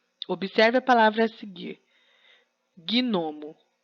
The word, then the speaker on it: gnomo: Gnomo. O G é mudo.